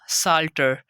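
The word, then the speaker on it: psalter: example है हमारे पास साल्टर यहां पर भी हम देख सकते हैं इससे पहले पिया गया तो इसको हमने पढ़ा ही नहीं उसको हमने रीड किया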